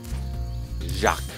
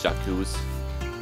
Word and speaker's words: Jacques: there's our portal to the boss and Ohio pronounce that name Jacques disease French and some people think it's Chuck twos but that's not the way that way to